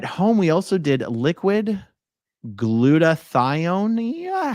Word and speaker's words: glutathione: At home, we also did liquid glutathione. Yeah, how do you pronounce that? Glutathione is how I choose to pronounce that.